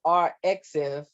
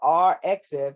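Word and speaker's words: arXiv: I think it's pronounced RXiv, okay, RXiv app, and that you can get that app free in the Google Play Store or the iTunes Store.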